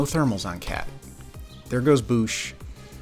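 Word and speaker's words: Boushh: Some people call her Bausch. By all means, let me know if I am saying her name wrong. I don't think I am. If her name is Bausch, that's gross, and I don't support it.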